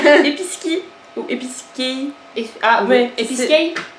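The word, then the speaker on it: Episkey: Ah ouais, Episkei. Ça s'écrit E-P-I-S-K-E-Y. Mais dans le film elle dit Episki.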